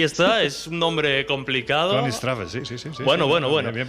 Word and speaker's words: Königstraße: La calle era el número 13 de la Königstraße. Oye, pues no te ha quedado mal, a ver. Ahí está, es un nombre complicado. Königstraße, sí.